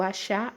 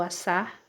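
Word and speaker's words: עשה: temos o verbo bará o verbo achar ou assar do jeito que você quiser pronunciar assar ou achar as duas formas Tá certo estão certas estão corretas tá É isso aí estão corretas e e tem o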